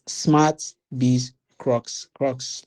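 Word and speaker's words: crux: Some of us have been making that mistake with pronouncing the name. It's smart be crocs.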